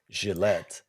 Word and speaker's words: Gillette: it because you're saying Gillette which is which is the way to pronounce it in I guess it's French right is is where the